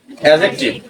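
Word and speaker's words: adjective: সর্বনাম ভার্ব ক্রিয়া এডজেক্টিভ উচ্চারণটা হলো এডজেক্টিভ ডি সাইলেন্ট অ্যাডভার্ব ক্রিয়া বিশেষণ প্রিপজিশন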